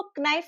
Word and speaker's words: knife: भी होता था, लेकिन जैसे जो नाइफ है ना उसको क्नाइफ बोला जाता था, तो उसका उच्चारण भी होता था।